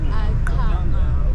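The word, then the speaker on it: Aqhama: My name is Akama. Huh? My name is Akama. What is it? Akama? Akama.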